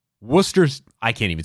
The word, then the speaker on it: Worcester: talking about the sauce they can say Wooster fine but then they see Worcester by itself Worcester yeah no it's not it uh South Africa I